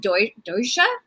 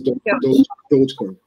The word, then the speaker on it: Dogecoin: And then is it pronounced Doja? It's Dogecoin.